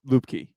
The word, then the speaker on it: Luepke: just waiting for it i'll go lipkey now the the announcers are saying look loop key hunter loopkey loop i'm pretty sure yeah loopkey but he gave me like